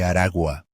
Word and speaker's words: Aragua: is pronounced Tren de Aragua. Tren de Aragua. The letter G in the final word is pronounced very softly, as it sits between two vowels. Tren de Aragua.